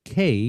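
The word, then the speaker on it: Walker's Cay: And the name of that band is Walker's K. We pronounce it K, but it is Key, but we say K, C-A-Y.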